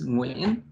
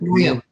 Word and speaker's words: Nguyen: Oh, well, can you tell me what the correct pronunciation is? It's Nguyen, but Nguyen.